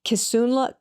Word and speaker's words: Kisunla: Forgive me if I'm not pronouncing them correctly. Please correct me. And Kisunla.